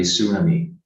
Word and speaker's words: tsunami: mute sound so uh you're not going to pronounce that the T sound but not that not assuming me but it's going to be tsunami like there is no T here okay tsunami um and